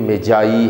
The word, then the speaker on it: Magi: pronounce कर रहे हैं मैगी के तौर पर तो य मैगी नहीं है मैं रिपीट कर रहा हूं यह मजाई है मैग्गी प्रोनंसिएशन नहीं है इसका जो हमें हवाला